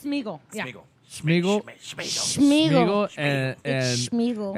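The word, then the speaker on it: Sméagol: where Smeagol, Smegel. am I saying it wrong? Smeagol, It's Smeagol.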